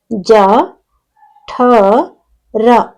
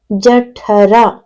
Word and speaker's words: ಜಠರ: ಈ ಒಂದು ಪದದಲ್ಲಿ ಇಲ್ನೋಡಿ ಇಲ್ಲಿಜ ಜ ಠ ರ ಜಠರ ಇಲ್ಲಿ ಮಹಾಪ್ರಾಣಾಕ್ಷರ ಯಾವುದು ಅಂದ್ರೆ ಠ ಜ ಠ ರ ಜಠರ ಓಕೆ ನೆಕ್ಸ್ಟ್ ಎರಡನೆದು ಮ ಠ